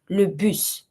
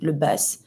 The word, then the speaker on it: le bus: But yeah, this is le bus. Careful with the pronunciation, we don't say le bus. Le bus, the bus.